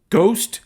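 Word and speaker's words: GOST: And there's even 2 tracks that feature the dark synth artist Ghost, G-O-S-T. I've heard that's how it's pronounced, but it's not that Ghost, it's the synthy Ghost.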